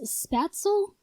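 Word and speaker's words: Spätzle: second up here is spatzle and i know that's like the american pronunciation that's not actually how it's pronounced in german but this is a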